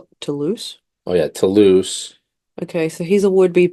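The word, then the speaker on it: Toulouse: So, we have Tanoose. Tuloose. Oh, yeah. Tuloose.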